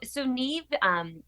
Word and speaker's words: Neave: So Neve, we sort of fudge the spelling, sort of do it phonetically, but it's a Gaelic word.